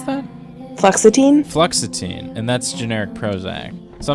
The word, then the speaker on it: fluoxetine: How do you pronounce that? Fluoxetine? Fluoxetine, and that's generic Prozac.